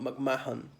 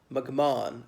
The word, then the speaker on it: McMahon: son of a bear the H is silent it's not Mac Mahon McMahon as in that famous